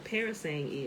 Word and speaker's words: parasang: I got to look at what a parasang is. Parasang. Parasangs. Parasang. It's spelled just like it sounds. Parasang. Like that girl can sing.